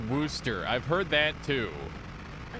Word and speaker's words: Worcester: working horse faster stuff it's pronounced wooster i've heard that too